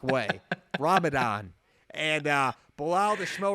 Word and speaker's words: Ramadan: not eating during the day he was absorbing rabidad and he would only eat his sundown and apologize to the smell butchered that name but we're trying to say it fast in the shmo like way ramadan and uh below the snow remembers your name